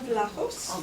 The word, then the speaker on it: Vlachos: So next we have John Vlachos.